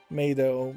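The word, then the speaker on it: 冥土: It is a play on words, as the word Meido means netherworld, but is pronounced the same as maid.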